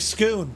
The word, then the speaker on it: Scone: this way Lads itty bitty Bridge yeah it's pronounced like scoon thank you flying tonight scoon yeah we're nearly